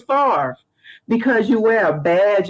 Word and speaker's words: Farve: went in the military i pronounced my name fave i didn't even want anybody know my name was far because you wear a